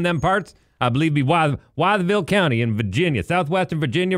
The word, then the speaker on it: Wytheville: go why the Ville so you want to say wiseville say wiseville but skip the Essie part yeah yeah yeah yeah